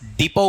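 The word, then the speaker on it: depot: आपका बस डिपो कह सकते हैं। डिपो का स्पेलिंग देख लीजिए क्या है? डी ई पी ओ टी। टी इसमें क्या है? साइलेंट है।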